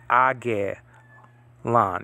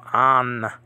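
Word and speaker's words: ἄγγελον: You don't say Angelon. You don't say it with the two G sounds. It's a gamma nasal. The first one, it turns into an N sound. So Angelon, right? Angelon. Angelon. Three syllables here.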